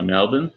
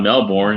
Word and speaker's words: Melbourne: other day, like what the rent's like in Melbourne, where he lives. Right. You notice I pronounced it Melbourne? Yeah, you're practicing. Melbourne. It's not Melbourne, you damn American.